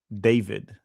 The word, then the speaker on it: David: call him David because he would say it's Davi. It's Davi because that's probably how you pronounce it in whatever Latin country he was from, right?